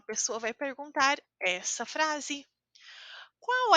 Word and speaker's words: qual: vai perguntar essa frase Qual é o seu nome atenção às pronúncias marcadas em quando uma palavra termina em l a pronúncia é u então a pronúncia é qual não se escreve assim